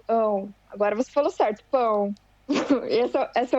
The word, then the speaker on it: pão: Não, mas está boa a pronúncia do seu ão. Agora você falou certo, pão.